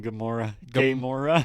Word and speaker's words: Gamora: Gamora.